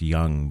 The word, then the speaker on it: Jung: yeah oh I'm sorry I know it's pronounced young but you know you stick a j on it in front of a Canadian and what's he going